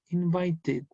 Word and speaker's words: invited: Por ejemplo, el verbo invite. Invite finaliza en un sonido T. Entonces, la ED se pronuncia como invited.